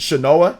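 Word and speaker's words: Shanoa: play it and the gameplay in this with shinoa that's how you say her name is so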